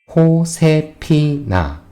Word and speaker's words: Josefina: Josefina. J is pronounced here before a vowel, and the last of the spelling is smaller to the English notation. After all, you can say Josefina.